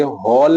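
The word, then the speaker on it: whole: संख्या इसे हम कहेंगे होल नंबर मेरे बच्चों डब्लू एच ओ एल ई W silent होता है लिखा जाता है लेकिन पढ़ा नहीं जाता प्राकृत संख्या के समूह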